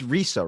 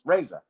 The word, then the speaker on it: Reza: it the first time it's risa right close it's raza raza raza yeah cause you were